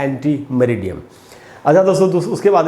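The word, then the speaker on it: ante meridiem: तो दोस्तों एक्चुअली ये लैटिन लैंग्वेज का है, जैसे मैंने आपको बताया, और इसका फुल फॉर्म है एंटी मरीडियम। ये मैंने उच्चारण लिखा है यहाँ पर, एंटी मरीडियम।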